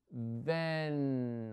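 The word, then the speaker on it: then: para decir luego ven ven observen cómo se pronuncia ven no nos vamos a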